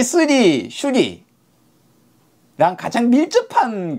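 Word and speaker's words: श्री: 수리가 중요해요 여기서는. 왜냐하면 수리, 마하수리, 수리, 사바하니까요. 다 수리죠. 그래서 수리가 뭐냐 이거죠. 수리는 슈리 혹은 스리라고 발음이 되는 산스크리트 또는 팔려예요.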